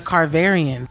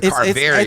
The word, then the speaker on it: Carverians: The Carverians. The Carverians. It's based on George Washington Carver.